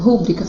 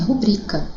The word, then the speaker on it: rubrica: As pessoas falam, coloque a sua rúbrica, faz uma rúbrica aqui para mim. Mas o correto é rubrica, assim como em gratuitos, não gratuitos, ok?